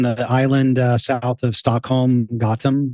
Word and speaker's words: Gotland: So, so you live on the island south of Stockholm, Gotland, right? Is that how you say it? Gotland. Yeah, Gotland.